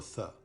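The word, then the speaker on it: ث: La lettre Tha est l'équivalent du TH anglais tel qu'il se prononce dans le mot birth, naissance.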